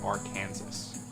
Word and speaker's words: Arkansas: if you're not from the us it's actually pronounced arkansas uh also for anyone who's still wondering